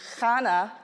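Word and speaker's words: Khane: appear was this name Khana k-h-a-n-e sounds like Hana but it's a little different because the alphabet in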